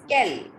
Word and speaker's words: quel: Quel Call jour you nomsu. Rishit, beta, it's not call, it's quel. Q-U-E is care.